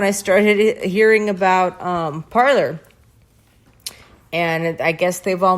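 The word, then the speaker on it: Parler: why I researched it so they pronounce it parlor and the people who design the app pronounce it parlor so it it doesn't really matter how it's supposed to be pronounced in the French like there's somebody I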